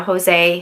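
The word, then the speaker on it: José: three years old so the J in Spanish is pronounced like an H you know Jose hey Zeus jalapeno etc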